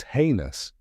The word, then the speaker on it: heinous: but now you know the right way it's heinous now the next time you hear about a